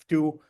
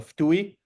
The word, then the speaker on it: FTUE: Some pronouncees, some fu. Me personally, I prefer fui.